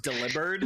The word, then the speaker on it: Delibird: No, but it's like a few years ago when my mind was blown finding out that Delibird is actually supposed to be pronounced Delibird.